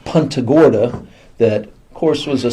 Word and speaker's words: Punta Gorda: People came down here that didn't speak Spanish, saw it on the charts, and just anglicized the name. So Punta Gorda is how it's said. Punta Gorda is the Spanish name, but if you're from here, you call it Punta Gorda.